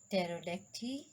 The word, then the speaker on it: pterodactyl: So dear students, where P is silent, the letter P is not pronounced at the beginning of many words using the combinations of PS, PT, and PN. Cell, psephology, pterodactyl, pneumonia, and pneumatic.